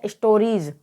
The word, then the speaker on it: stories: तो जब वर्ड के लास्ट में IE आए और उसके बाद S आए तो S का उच्चारण ज होगा। तो STORIES को हम यहाँ पर क्या पढ़ेंगे? स्टोरीज।